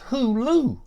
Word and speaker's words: Hulu: says hula she says Paul Paul they don't pronounce it hoola it's Hulu I said who what I said look if